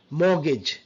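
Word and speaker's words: mortgage: Christmas বলে ক্রিসমা Christmas মর্গেজ আমরা অনেকে মর্গেজ নট মর্গেজ মর্গেজ মগজ ইভেন আর সাউন্ডটাও সাইলেন্ট থাকে মর্গেজ ব্রিটিশ সাউন্ড সফেন সফেন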